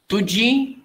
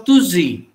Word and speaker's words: tuji: then the pronunciation becomes Tuzi, Tuzi. Nobody, Konkani speakers don't say Tuzi, we say Tuji.